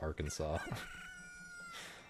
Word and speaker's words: Arkansas: Well, because it's Yeah, you would naturally think that because this the state Kansas is pronounced Kansas, but Arkansas is pronounced Arkansas.